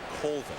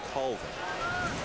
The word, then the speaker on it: Colvin: Well, I said, how does your mom pronounce it? He said, Colvin. But my granddad says Colvin. And mom wins, right? Mom trumps granddad. No disrespect, granddad, but mom wins.